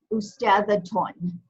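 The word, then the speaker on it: أستاذةٌ: Ustadhaton. Ustadhaton. Twan. Okay, so when we have a double dhamma, that's when you get the un sound.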